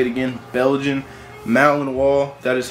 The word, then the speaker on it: Belgian Malinois: Belgian Malinois. That is how you pronounce it.